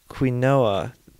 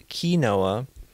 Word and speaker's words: quinoa: It was pointed out to me that I was pronouncing this one product or this one ingredient as quinoa. That's how I was saying it. I was told that that was wrong, and I believe it is quinoa.